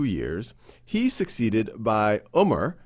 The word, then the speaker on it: Umar: He's succeeded by Umar, sometimes pronounced as Omar, who then is assassinated,